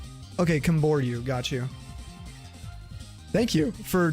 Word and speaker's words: Camboriú: And then the second part is called Camboriú. Okay, Camboriú, got you.